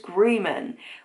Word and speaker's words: Grumman: that wrong and also the way he says grumman he says greman which is not how i said it when i read it